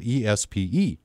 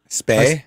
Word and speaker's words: Espe: and it's Lars, and it's spelled ESPE. And so I said, "Is it Espe, Nick?" And he says, "Well, no, it's more like It's more like an A sound." Spay. Spay.